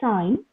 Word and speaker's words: sign: lamb clim T tum similarly you have silent g words as well children uh that is sign champagne no high light and then uh you have some of the words in your textbook please try to uh say them it is designed where g is silent then malign and then